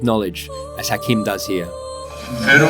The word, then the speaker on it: Pharaoh: Pharaoh is a Greek pronunciation and formed from Pir'a, and that's the high house.